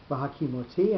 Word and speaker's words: v'hakimoti: Normally, if you were pronouncing that in Hebrew, the second last syllable would be the one with the accent on it. It would be v'hakimoti rather than v'hakimoti.